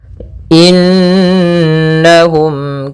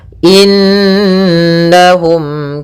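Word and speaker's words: إنّهم: Pada bacaan innahum di sini ada hukum bacaan gunnah, yaitu adanya nun berharakat tasydid. Ya, maka cara membacanya adalah kita tahan dulu gunnahnya inna, baru kita baca na.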